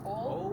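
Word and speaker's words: Ole: Old as in O-L-E, because that's the way it's pronounced. Old Man Brown.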